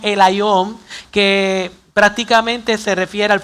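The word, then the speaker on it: ἔλαιον: Ahora, en el Nuevo Testamento, la palabra aceite aparece limitadamente y se pronuncia en el griego, no en el hebreo, en el griego como el Ión, que prácticamente se refiere al fruto del olivo, específicamente con distintas propiedades o elaboraciones.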